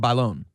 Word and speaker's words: Bailon: oh wait wait but he said you said bone yes that is correct that is how is pronounced it only took 15 years of my career to get it Bon byon Balon was